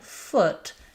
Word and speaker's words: foot: So, for example, put and foot have the same vowel sound.